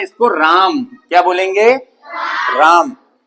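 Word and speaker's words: RAM: आर M Hindi वाली English में इसको राम क्या बोलेंगे?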